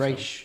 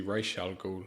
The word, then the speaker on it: Ra's al Ghul: I've heard that that's incorrectly pronounced in that film. Raish, is it? And it's supposed to be Ra's al Ghul.